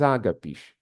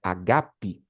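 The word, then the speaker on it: ἀγάπη: Estes são os escolhidos em vossos ágapes. Onde vocês leem aqui a palavra ágape, na verdade em grego é agape, a pronúncia correta?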